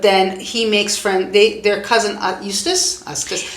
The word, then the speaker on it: Eustace: he makes their cousin Eustace, because it rhymes like useless.